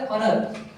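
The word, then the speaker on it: honour: ही is owner to ह country इसको बोलेंगे ऑनर क्या होगा यहां पर एन ठीक है वो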